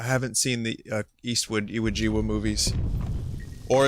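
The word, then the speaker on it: Iwo Jima: haven't seen the Eastwood iawa movies or as my friend s used to pronounce it Iowa gym oh my God I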